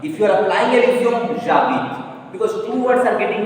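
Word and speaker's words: j'habite: Two words are getting connected, no. So you have to pronounce jabit. Before, because of Elysium, two words got connected, contraction is taking place. So you have to pronounce them together, like liaison. You have to say jabit.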